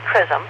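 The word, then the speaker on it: XRISM: after starting science operations in February Japanese Leed crism spelled x r i s m but they say it's pronounced Chism uh X-ray and this stands for x-ray Imaging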